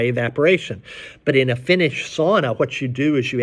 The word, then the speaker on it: sauna: That's sort of the basis for sauna, Finnish sauna. Sauna is the way they say it. It's the correct way to say it.